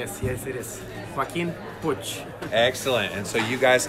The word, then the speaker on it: Joaquin Puig: Joaquin Puig.